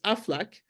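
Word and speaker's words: Aflac: like hey AF laac when you pronounce it it says afflac and it sounds like a duck quacking so he basically kind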